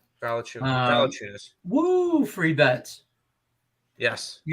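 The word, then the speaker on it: Valančiūnas: It sounds like Bye-bye figures. Valanciunas.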